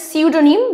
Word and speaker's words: pseudonym: the next one is pseudonym this is easy so basically it's PS eud or Nym see you don't need again P is silent but it just spelled with the P in the beginning so this is pseudo